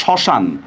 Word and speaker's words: শ্মশান: দেখেন শব্দের শুরুতে মফলার উচ্চারণ হয় না, যেমন আমি লিখলাম দেখেন শ্মশান, দেখেন তো শ্মশান শব্দের মধ্যে শব্দের শুরুতে একটা মফলা আছে কিনা, শব্দের শুরুতে মফলা যেহেতু আছে এটার উচ্চারণ কিন্তু হবে না। এখন আমরা কি বলছিলাম মনে আছে, যেখানে মফলার উচ্চারণ হবে না ওই জায়গায় আমাদের কি করতে হবে, একটা চন্দ্রবিন্দু দিতে হবে। তাহলে শ্মশান উচ্চারণ আমরা কি করবো, একটা চন্দ্রবিন্দু দিব।